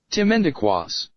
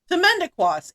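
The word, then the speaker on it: Timmendequas: How to pronounce. Ready? Yes. Timendequas. Timendequas.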